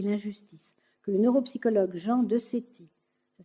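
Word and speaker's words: Decety: mal, l'équité et l'injustice, que le neuropsychologue Jean Decetti, ça s'écrit D-E-C-E-T-Y, de l'Université de Chicago, est parvenu à cette conclusion.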